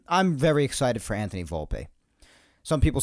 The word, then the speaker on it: Volpe: say volpe some people say volpe in italian the e is usually volpe or volpe so i like to say it that way but if it's volpe then volpe you know i want to pronounce correctly unless of course it's